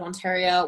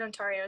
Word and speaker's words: Ontario: I said Ontario. It's Ontario. Yeah, same. It's Ontario.